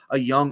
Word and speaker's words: Jung: He kind of reminds me of a young Austin Riley. Through 71 games, 280 at-bats, Josh Jung, spelt J-U-N-J, but it is pronounced Young.